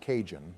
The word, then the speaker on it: Cajun: It's not Cahoon, it's pronounced Cajun.